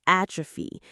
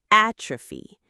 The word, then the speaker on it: atrophy: The muscle has started to atrophy. It has shrunk from lack of use. Let's practice the pronunciation together. It has three parts. ATropy. Atrophy. The stress is on that first syllable. A. Atrophy.